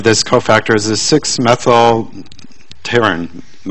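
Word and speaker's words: pterin: But then the business end of this cofactor is a 6-methyl taurine. I think the P is silent.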